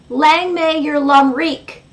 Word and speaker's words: Lang may your lum reek: So at the end of every single show, I say, "Lang may your lum reek."